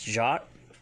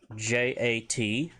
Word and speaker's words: jat: If you want to say okay, it's jat, J-A-T, jat.